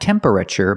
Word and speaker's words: temperature: is the temperature gauge pronunciation tempra not temperature but temperature the TU makes a CH sound like chicken temperature remember it's three syllables temperature not temperature not four syllables but three temperature this is the temperature